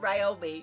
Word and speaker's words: Ryobi: That's how you pronounce it Ryobi.